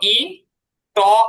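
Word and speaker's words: eat: ইট খাওয়া রস ই ট আর ঠ এর মাঝখানে ইট।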